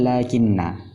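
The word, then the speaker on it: لكنّ: Setelah lam, ketika pengucapan seperti ada alif, lakin, itu juga lakinna. Tetapi penulisannya itu tidak ada alif, lakinna, tidak ada alif di depan lam.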